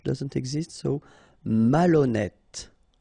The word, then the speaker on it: malhonnête: Malhonnête. Okay, remember H doesn't exist, so malhonnête. Don't insist on the final E. Malhonnête. And here you get E accent circonflexe, so you pronounce it like E. Malhonnête.